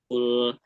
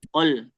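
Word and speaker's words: قل: Jangan sampai qul qul qul. Nah, dia agak bingungkan tuh. U apa? A qul. Qol. Nah, tapi qul ya. U-nya jelas.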